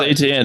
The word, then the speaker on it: Etienne: I always say his last name wrong. How do you say his last name? Are they a buy? I don't know. Say just like the letters ETN. Oh, Travis Etienne.